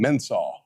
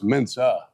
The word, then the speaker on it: Mensah: lot of people didn't even know how to pronounce his last name properly. Everybody called him Mensah.